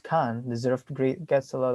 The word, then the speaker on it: Cairns: the city of the city of cairn pronounced khan deserved great gets a